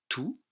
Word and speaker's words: tous: salle 101 nous retrouvons notre mot tout que je prononce ici tous tous les élèves jeu